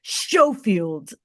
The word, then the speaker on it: Schofield: Hi, and I'm so glad that you pronounced it correctly. Schofield.